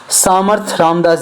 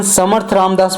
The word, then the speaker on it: समर्थ रामदास: तो पहले जानते हैं सामर्थ रामदास जी के बारे में। इनकी प्रोनाउंसिएशन समर्थ रामदास भी हो सकती है, सामर्थ रामदास।